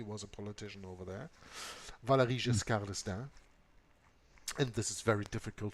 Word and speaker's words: Valéry Giscard d'Estaing: Valéry Giscard d'Estaing.